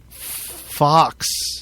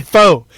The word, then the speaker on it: faux: It's Fox. I mean faux. It's faux. Shit. They would pronounce it Fox.